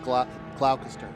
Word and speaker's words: Gloucester: It is pronounced Gloucester. Gloucester. Okay. What did I say? Gloucester. It's like Gloucester.